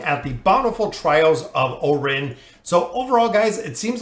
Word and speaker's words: Eorin: with oren and i i've heard a lot of different ways for the pronunciation of his name i'm going to go with orin some people said iren some people said yorin i'm not exactly sure